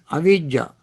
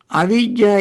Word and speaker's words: avijja: Don't confuse abhijja with avijja. Abhijja is spelled in Pali A, B, B as boy, H as Harry, A, J, J, Abhijja. Avijja is spelled as A,